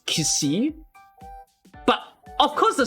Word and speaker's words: Xi: In fact, C is not supposed to be pronounced as C. It's I think C was supposed to be pronounced as Ksi. Like, okay, the way you spell XI in pronunciation is KSI, so it's Kisi.